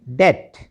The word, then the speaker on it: debt: ठीक है, DEBT, इसको डेप्ट नहीं पढ़ना, इसको क्या पढ़ेंगे? डेट।